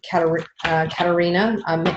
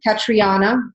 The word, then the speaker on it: Katriana: I want to add one quick thing to that, and then we'll move on to Katarina. Making sure Katarina's on next. Katriana. Oh, I said it wrong.